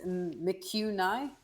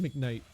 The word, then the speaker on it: McKnight: I mean, in these two games, I'm not how you say this, McHugh Nye, maybe that's how you say it. He's been kind of disappointing for me, at least. I think it's just McKnight.